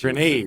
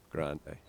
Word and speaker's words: Grande: She Next actually, year, I think, she's- pronounced her last name differently when she was Grenade. in Hershey. Yeah, when she was at Hershey, yeah, I remember Yeah, that. and then shortly thereafter, it became Grande.